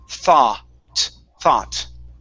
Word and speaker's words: thought: and the you does not make a sound either so we don't want to say okay that does not sound it's only an ah thought okay one more time